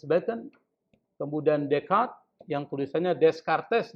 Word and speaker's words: Descartes: Seperti misalnya Francis Bacon, kemudian Descartes, yang tulisannya Descartes, dibacanya Descartes.